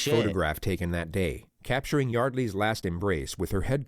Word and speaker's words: Yeardley: It's pronounced Yeardley.